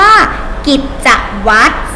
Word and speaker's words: กิจวัตร: ต่อ ไป คำ ว่า กิจวัตร 3 พยางค์ นะ คะ กิจวัตร สังเกต ไหม คะ คำ ว่า Wat wata ต่อ วัด ไม่ ออก เสียง เรือ ตัว ท้าย นะ ต่อ ไป คำ